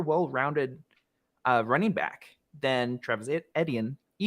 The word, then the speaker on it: Etienne: running back than Travis Etienne. How do you pronounce that name? Just think of it as letters. The letter E, the letter T, and then the letter N.